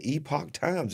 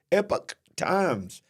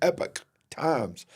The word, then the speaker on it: Epoch Times: it's not called the epoch times it's called the epic epic times it's pronounced almost like epic but it's Epic Times so I've been saying